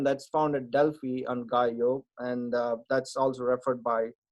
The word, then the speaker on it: Gallio: So the L is not pronounced as Gallio, or so they pronounce it as Gallo. So if you read it in with the Spanish accent, Gallo.